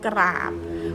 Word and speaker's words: กราบ: กอ รอ อะ บอย กราบ ออก เสียง ทั้ง ก ไก่ และ รอ เรือ นะ คะ เป็น คำ